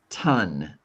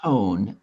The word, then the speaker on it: ton: It is spelled with an O, but it sounds like U. Ton. Ton. I didn't say tone. I said ton.